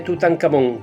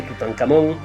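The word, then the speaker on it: Tutankamón: el recinto funerario de tutancamon que significa la imagen viva del dios Amón la k sería en realidad una kh y se pronunciaría como una J pero voy a usar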